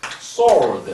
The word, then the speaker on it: sword: 아니고 W는 silence 무금이에요. 그러니까는 sword 이렇게 말하면 됩니다.